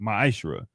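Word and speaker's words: מעשר: Means 10th in Hebrew, and it's pronounced ma'ashra.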